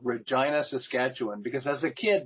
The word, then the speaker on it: Regina: I have no idea Regina it rhymes with fun that's their they stopped